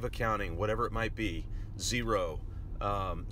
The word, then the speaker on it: Xero: If you don't have financial software, QuickBooks, Wave Accounting, whatever it might be, Xero spelled with an X, by the way, you need to get something.